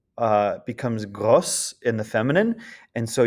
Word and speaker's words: gros: Second one is gros, becomes grosse in the feminine. And so you've got, it's pronounced a little differently. So you've got gros and grosse.